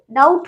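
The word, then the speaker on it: doubt: डाउट तो नहीं पढ़ेंगे, डाउट पढ़ेंगे।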